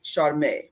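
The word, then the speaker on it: Sharmé: So it would be SHARM with a little apostrophe after it, or you can write it down with an E with an accent over it, or phonetically with an AY, Charme.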